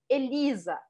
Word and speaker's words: Elisa: sempre escutamos falar tá então Elisa em português a segunda sílaba é mais forte em francês Elisa Elisa tão já ficou marcado